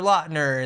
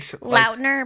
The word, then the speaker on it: Lautner: I keep saying his name wrong. We literally opened the podcast with confirming that he goes by Lautner, and then I kept calling him Lautner the whole entire interview.